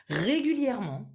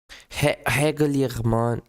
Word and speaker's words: régulièrement: Régulièrement. Régulièrement. Régulièrement. Régulièrement. Habituellement. Habituellement. Régulièrement. Régulièrement. Normalement. Normalement. So you wouldn't say normalement, régulièrement. The pronunciation would be normalement, régulièrement. Almost as if this E was not there.